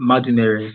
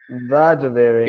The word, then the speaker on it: Madumere: It's Madumere, so you're not far from the right pronunciation. Madumere, yeah.